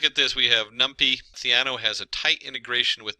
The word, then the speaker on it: Theano: in there and looked it up it is theano there's a lot of pronunciations theno and different things uh so theano uh it's